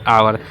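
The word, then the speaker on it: hour: Is waiting dot डॉट आवर। अब देखिए दोस्तों यहाँ पे लिखा गया आवर, और दोस्तों आप लोग जानते हैं दोस्तों कि आवर में क्या होता है दोस्तों, हमारा एच साइलेंट होता है दोस्तों।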